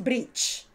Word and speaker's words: bridge: water Under the Bridge Bridge no es Bridge Bridge sino que es Bridge fijaos de nuevo que se parece más a una e española que a una I Bridge y como cha cha